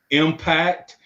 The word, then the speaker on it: EMPACT: It's called impact, but it's spelled EMPACT, and it's Great.